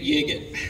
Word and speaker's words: Yigit: Can you dig it, Yigit? Yeah, that's me. I love it. It makes the name pronunciation make sense. There are no questions asked by everybody here in the media. That's how you say his last name.